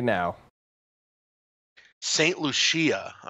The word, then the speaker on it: Lucia: yeah I have Saint Lucia Larry it's amazing that you continue to keep getting the pronunciations wrong that's Lucia Ziya yeah well there's it's in French honk Lucy see I don't